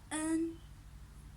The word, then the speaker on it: 恩: In Chinese, it's pronounced as en, en, en.